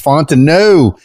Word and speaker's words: Fontenot: It's Fontenot. And how do I know how to pronounce Fontenot?